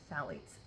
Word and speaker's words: phthalates: synthetic scents that contain Sally's Sally's uh you say with the th but it's spelled p uh phth now it's um their